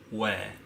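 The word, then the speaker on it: 회: Hue, yes, that's how you pronounce it. But if you go to like the fish market and see the English translation, you will see Hoe. Ho.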